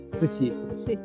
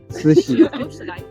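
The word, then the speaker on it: 慈禧: Cixi, yes, the name of that for this for Cixi. Cixi. Yeah, Cixi. Chinese Chinese has 4 intonations. You know, you need to go up, go down, and up again for that pronunciation.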